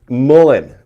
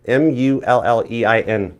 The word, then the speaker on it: mullein: It's like melanin or something. What does it got in it? The key search thing on this thing was like that mullein, M-U-L-L-E-I-N leaf, mullein.